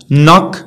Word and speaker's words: knock: k okay followed by n كتبع n ما كتنطقش، ما نقولوش knife knife ni okay كيف ما كتعرفوا no ماشي now knock كتدق knowledge knowledge ماشي knowledge.